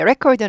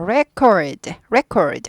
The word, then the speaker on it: record: record는 레코드판이죠. 음반. 네, 그래서 그것은 음반입니다. 레코드판입니다. record. R이 있으니까 구부리죠. record 아니고 record 아니고 record.